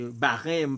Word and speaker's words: Bahreïn: Par contre, c'est quoi ça prononcer réellement en français, tout, c'est Bahreïn, Bahreïn, pour me prudent.